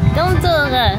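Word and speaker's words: Domtoren: 본토 발음으로? 우트렉트. 우트렉트. 저것은? 덤토르.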